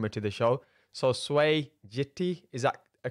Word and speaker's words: Swey Jitti: to the show so sway jitty is that a correct pronunciation it's like the car gt gt even better that sounds really great so we've got sway gt on today's episode so